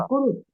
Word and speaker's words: कुरुत: तुम सब ये कहते कुरुथ हैं कुरुत, कुरुत, कुरुत, कुरुथ कुरुत है जो लास्ट वाला होता है, विसर्ग वाला नहीं, दूसरे वाला नहीं, कुरुत।